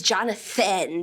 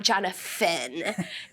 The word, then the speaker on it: Jonathan: phonetically and Thai and in a lot of other Asian languages we don't have the th sound so the was really